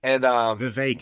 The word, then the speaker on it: Vivek: And Vivek, it rhymes with cake.